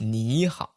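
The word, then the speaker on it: 你好: hello right which is Niihau supposed to be third tone and then third tone but in real life people actually pronounce it a second tone third tone which is Neha right right right and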